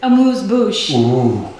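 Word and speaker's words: amuse-bouche: it i like it how do you say it a moose bush can you show us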